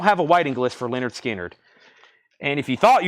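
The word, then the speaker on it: Lynyrd Skynyrd: Terry Gearhart wants on the waiting list for pronounced Leonard skinnard and then uh David bit 16 on the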